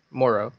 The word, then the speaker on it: Morrow: Is it Foster Monroe or Morrow? Yep, Foster Morrow.